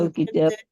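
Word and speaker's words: الكتاب: ওটার মধ্যে লামের লামের উচ্চারণ হবে, মানে আলিফ লাম আলাদা থাকবে, ওই শব্দ ওয়ার্ডটা আলাদা থাকবে, শব্দের মধ্যে আলিফ লাম আসার কারণে কোনো পরিবর্তন হবে না।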